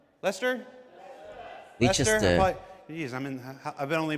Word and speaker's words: Leicester: How do you say? Is that Leicester? Leester.